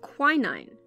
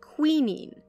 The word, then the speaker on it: quinine: a synthetic version of quinine if you're a British listener you're probably used to hearing that word pronounced queening rest assured I'm talking about the same thing I just have a funny accent in Perkins day quinine